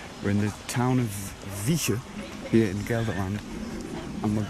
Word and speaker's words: Wijchen: around it oh well the sort of modern pronunciation would be vika look there it is